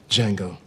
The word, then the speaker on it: Django: Django. Can you spell it? D J A N G O. The D is silent.